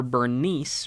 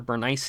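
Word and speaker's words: Berenice: Ptolemy II's daughter Bernice, or Bernice is probably how it's actually pronounced, is sent up to Antiochus II for them to marry and have a marriage alliance.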